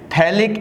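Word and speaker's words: phthalic: बच्चों इसको हम एक नाम देते हैं थैलिक एसिड। पीएच इसमें साइलेंट होता है, थैलिक एसिड।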